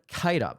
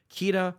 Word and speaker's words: Keita: He's one of the best international prospects in the game and that is Seyan Kaida. I have seen some people say Kea or Ka. Uh, I believe it is pronounced Kaida because every time I have